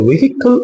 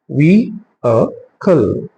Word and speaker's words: vehicle: ஸோ இதை வெஹிக்கிள் அப்படின்னு சொல்றது தவறான ப்ரொனன்சியேஷன். ஸோ இது எப்படி நம்ம ப்ரொனன்ஸ் பண்ணணும்? vehicle. vehicle. vehicle அப்படிதான் இதை ப்ரொனவுன்ஸ் பண்ணணும்.